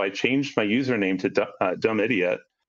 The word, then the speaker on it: dumediat: stranger on the internet, Dumediat to their face. Right. So I changed the pronunciation to Dumediat. I was like, you can pronounce it that way.